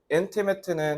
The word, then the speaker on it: intimate: 뭐냐면 love and loss are intimate intimate 자ate라고 읽으면 안 돼. 형사니까.